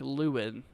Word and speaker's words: Lowen: Cherry says Lowen is pronounced like Lewin, and you were, Lewin?